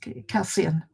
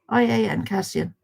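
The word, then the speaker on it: Kassian: It's Cassian, and he's such a dinky little thing.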